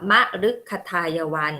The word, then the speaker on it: มฤคทายวัน: พฤกษา อ่าน ว่า พฤกษา ติด ตาม หลัง มอ ม้า ทำ นี้ จะ อ่าน ว่า มฤคทายวัน มฤคทายวัน คือ สวน ที่